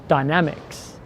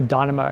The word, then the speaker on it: Dynamics: Dynamics. I call it Tour Dynamo because when it first came out, I thought it was called Dynamo, but Tour Dynamics.